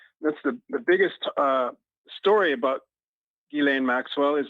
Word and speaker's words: Ghislaine: It's like Elaine, but it's Ghislaine instead of Elaine. The S is silent because it's a French name.